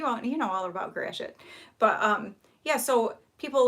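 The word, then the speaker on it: Gratiot: whole day um but gracious is spelled g r a g-r-a-t-i-o-t well people say like gradient and stuff well i can understand why they would because that's what it looks like or like the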